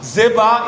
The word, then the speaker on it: Zeba: Zeba e Zalmuná, eu estou pronunciando como se fosse o nome hebraico, são os dois governantes ali dos midianitas que fugiram, é rei dos midianitas.